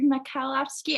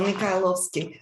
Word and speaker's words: Mikhailovsky: a ballerina with uh saint petersburg makowski i don't know if i pronounced that right peterborough very well very well mikhailovsky yeah miguel you know